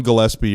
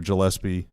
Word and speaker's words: Gillespie: Uh Colin Gillespie or Gillespie? Is it a Is it a hard G or a soft G? I think it's a soft G, actually.